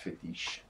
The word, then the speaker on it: FEETICHE: based fit input for contactless and gestural interaction pronounced fetish from collaboration and we also have recently come